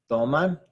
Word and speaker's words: toman: Toman ends in an N. So we've got the N at the end here. So a vowel, N or S. When that's the case, the second to last syllable is where it's stressed. This is toman. The stress syllable is right here on that T-O.